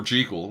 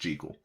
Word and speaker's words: Jekyll: the last name jiggle it's actually an old irish name and it's always been pronounced jiggle we're all just dumb